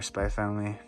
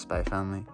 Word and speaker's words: Spy x Family: spy x family or spy family i really don't pronounce the x like you know hunter hunters just spy family so we have a